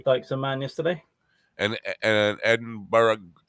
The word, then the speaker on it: Edinburgh: and Edinburgh, not Edinburgh.